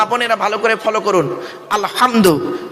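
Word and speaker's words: الحمد: না বাপ রাব্বিল আলামিন আলহামদু আমার মা বোনেরা ভালো করে ফলো করুন আলহামদু আলহামদু হাউজ নয় গলার ভেতর থেকে এটা উচ্চারণ করবেন আলহামদু আলহামদুলিল্লাহি রাব্বিল আলামিন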